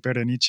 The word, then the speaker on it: Berenice: imagine in my head how to say this with like an Italian accent, even slightly like Berenice or something like that. Yeah, that's the proper way to say it.